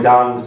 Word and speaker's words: Dan: This is one of three seminars that Don Rohme will present. And even though it's spelled D-A-N, it's pronounced D-O-N, just in case you need to know that for whatever reason.